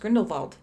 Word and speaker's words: Grindelwald: I think it's like um I think it's pronounced grindel vald is it yeah it is they keep saying